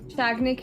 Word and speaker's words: Sagnik: Pronunciation शाग्निक है, but spelling SAGNIK है.